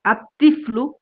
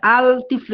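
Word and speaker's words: الطفل: এই শব্দগুলো দেখুন তিফলুন মানে শিশু আমরা পড়েছি আত্তিফলু এখানে আইসা আল তিফ্লু এরকম না আত্তিফ্লু পড়া লাগে কেন কারণ এই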